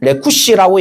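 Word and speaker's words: רכש: 그 라기스가 지금 히브리어상 발음으로는 라키시라고 되어 있고 준마를 보시면 레쿠시라고 얘기를 해서 똑같은 거의 비슷한 유사한 발음을 사용하면서 결국에는 여러분 어떤 의미냐면은 첫 번째 의미로는 준마를 태워서 빨리 도망해야 된다라는 얘기를 하고 있어요.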